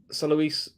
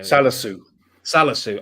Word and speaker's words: Salisu: Salois. It's how you pronounce the defender's name. Salisu. I always get his name wrong.